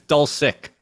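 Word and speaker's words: Dulcich: but with a sick so it's not it's dull sick so it's not like according to everybody who says that's how it's pronounced like I was pronouncing it wrong at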